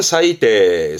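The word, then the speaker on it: 最低: 않겠죠 그렇죠 요게 최저입니다 그래서 최저 발음은 사이대 사이대 만약에 최고라면 사이고 사이거이지만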